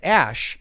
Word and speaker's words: Æ: than a name, but the character E is apparently said as Ash. Well, I looked up on Wikipedia. I've never heard it pronounced that way, and they say it's most typically pronounced as E, or EE or something.